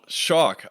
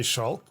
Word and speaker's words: Schalk: sure sure so my it's not wrong the way you're pronouncing it let's start with that um it's traditionally originally whatever a German name and if you ask a German person to pronounce it just based on the letters they will say schul um but I uh